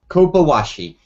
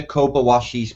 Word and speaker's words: Kobayashi: So maybe, Martin, you can start us off with the correct pronunciation of the map we're going to discuss first and foremost. Well, here I go. Kobayashi. Dr. Kobayashi's map.